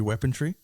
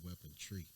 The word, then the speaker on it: weaponry: You said weapon tree. Weaponry. Yeah, Sorry. weaponry, yeah. There ain't no T in it.